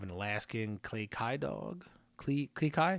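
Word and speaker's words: Klee Kai: Klikai? Is that how you say it? That's right.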